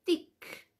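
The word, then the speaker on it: תיק: cartera de una mujer se dice tic t de Tomás y K tic así se dice bolso Cómo se va a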